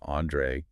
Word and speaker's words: Andre: My name is Andrew Augusto, and I want you to please listen closely to my pronunciation. It's Andre. You hear that? The stress is on the first syllable, Andre.